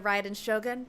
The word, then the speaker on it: Raiden Shogun: up to discover that he has become the riot in shogun prior to this event the protagonist is a nobody who gets bullied by everyone but after becoming the riot in shogun he acquires unlimited power the appeal of this